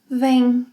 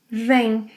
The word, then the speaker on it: vêm: Vocês, eles, elas, vêm, vêm. Vem and vem sound the same.